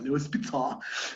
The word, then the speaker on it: Leo Spitzer: Leo Spitzer, que es alemán, entonces se debe pronunciar Leo Spitzer, ¿no?